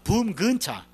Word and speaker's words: 차범근: 이 사람들이 차범근 이 발음을 잘 못해요. 그래서 독일 발음은 이게 붐근차입니다. 붐근차. 붐근차 발음이 안 되니까 붐차 그런 거예요.